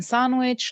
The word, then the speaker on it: sandwich: between two consonants two when it comes between two consonants it's um it's uh silent like in sandwich like in handsome and likely yeah an